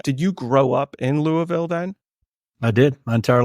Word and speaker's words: Louisville: It's Louisville, and it's actually probably supposed to be pronounced Louisville because we're named after King Louis from France. But okay, Louisville is the way it is.